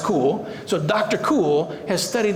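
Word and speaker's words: Kuhl: is Dr cool because her last name is spelled k-u-h-l and it's pronounced cool so Dr cool has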